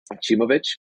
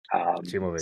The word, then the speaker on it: Acimovic: Well, let me start by pronouncing my last name. I think that's the thing that everybody gets wrong. It's pronounced Acimovic. Acimovic.